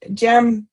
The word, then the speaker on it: djembe: Okay, the drum that Sandy mentioned, it's pronounced djembe.